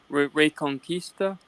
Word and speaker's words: Reconquista: say something real quick the word that you just uh mispronounced unfortunately is uh ray conquista and i'm getting i